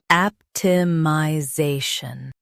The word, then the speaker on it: optimization: Stress the zay syllable and keep shun light.